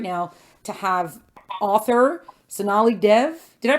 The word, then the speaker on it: Sonali Dev: So we are thrilled right now to have author Sonali Dev. Did I pronounce it right?